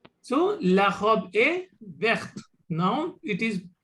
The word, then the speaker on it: verte: So la robe est verte. Now it is, the T is pronounced completely.